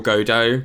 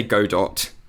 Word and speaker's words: Godot: armendo godot oh sorry i say his name godot which is extremely wrong but i can't change how i say it now i've like locked myself into it i think it's good or godot but i say go